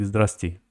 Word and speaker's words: здравствуйте: It's written a little bit hard, like здравствуйте, but they read it like здрасте.